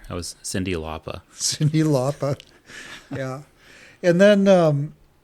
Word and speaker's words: Lauper: Yeah, and maybe some Cyndi Lauper. Yeah. I never pronounced the R. I was Cyndi Lauper.